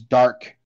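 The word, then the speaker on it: Darq: december 4th we have uh some new games dark complete edition spelt with d-a-r-q uh this game is like a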